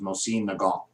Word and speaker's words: Mosin Nagant: And just for pure of heart out there, the correct pronunciation, I believe, is Mosin Nagant.